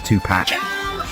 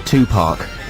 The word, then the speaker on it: Tupac: It's Crap Commentary Corner, but first here's Tupac. See, my ma would probably call him Tupac, like two different parks.